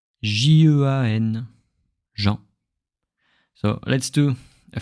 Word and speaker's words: Jean: So when I say my name, J-E-A-N, Jean.